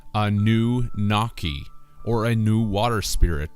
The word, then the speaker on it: Anunnaki: Anunnaki is phonetically Anu-Naki, or a new water